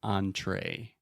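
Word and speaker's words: entrée: talk about French is we have a lot of words that begin with the letters E-N, and they always make the sound on. So continuing with food, we have the word entree. Perfect example because you have the on in the beginning and the A at the end.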